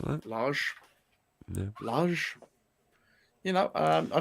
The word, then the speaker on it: Lage: How do you pronounce that? Like that? Lage.